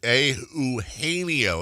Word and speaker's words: Eugenio: Here's Eugenio, as we've said, one of the very few 5-syllable first-name sports stars.